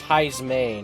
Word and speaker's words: Heismay: Just realizing, have I been saying his name wrong? Heismay? It's Heismay, not Heismay. Got the S and the M mixed up.